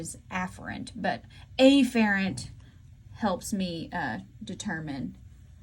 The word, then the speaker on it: afferent: nervous system these are called afferent the better pronunciation is afferent but afferent helps me determine which one is